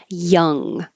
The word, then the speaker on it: young: hold it there young this is the uh vowel Young and the tongue goes up in the back for the ending just like in the words lung rung s um and the same vowel is repeated Young Guns Young Blood even though these are spelled differently it's the same uh vowel hiccuping hiccuping hiccuping and